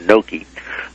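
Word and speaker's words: Knoke: I indicate that William I guess you pronounced it no k n o k e or noi uh was a founder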